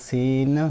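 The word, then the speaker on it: س: নুনের নক্তা মুছে ডান পাশে তিনটি কাটালা লাগালে সিন হয়ে যায়।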